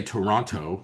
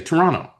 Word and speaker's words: Toronto: you realize that like they don't say Toronto, they say Toronto.